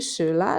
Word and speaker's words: Schüler: The sh at the start of Schüler and Schule, the E in die, and the long U in Buch. Let's do it one more time together. Die Schüler lesen ein Buch in der Schule.